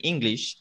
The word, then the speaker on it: English: Un tip, en esta palabra, en English, ambas sílabas es el mismo sonido vocal. Así esté una E y una I. Es el mismo sonido vocal. Si se fijan, mi boca se mantiene. English. English. No es English.